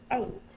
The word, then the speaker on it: eight: the next word is eight my friend is eight years years old eight for the number eight the word is spelled e i g h says the a sound the next sound is